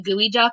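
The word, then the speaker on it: geoduck: clam called the and i said it wrong earlier it's actually a gooey duck and i only know that from a cooking show i watch but a large clan called the gooey duck can bury itself three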